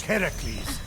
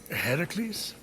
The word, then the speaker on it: Heracles: So, Fenyx, after boldly besting the Gorgon that ambushed Heracles. What are you doing there? That thing with your voice? Heracles?